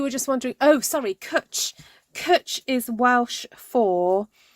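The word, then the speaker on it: cwtch: place oh you were just wondering oh sorry cutch is Welsh for it's like hug but it's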